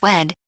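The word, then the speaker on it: Wead: he told his biographer Douglas wed yes pronounced like weed I wouldn't answer the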